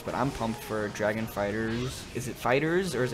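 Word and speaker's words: FighterZ: Okay, so it is pronounced Fighters.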